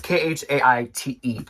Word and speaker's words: Khaite: Okay, so my next brand is spelled interestingly, but it's pronounced Khaite, and it's Khaite.